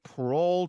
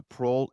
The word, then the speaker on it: parol: is answered by the parole evidence rule. One preliminary note before we get too far. It's spelled parole, not parole with an e. It's not what you get for being good in prison. Pearl here means oral.